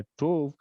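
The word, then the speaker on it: טוב: लिए जो शब्द इस्तेमाल हुआ है वो है टोव, which rhymes with the first word that we read, which is tohu wa bohu.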